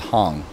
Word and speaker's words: Hang: Switzerland 10 years ago called Hong spelled like hang so this was inspired